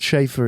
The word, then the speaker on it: Scheiffer: Chauffeur, Chafer, Scheiffer, and then second name's. So people are, ooh, Mr. Ooh. Yeah. But I've had all of that. But Schaefer is how I prefer it to be pronounced.